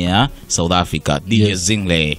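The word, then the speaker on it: Zinhle: Zingle. Yes. Ndio inavyotamkwa hivyo, kina Pearl Tusi na wengine, sio?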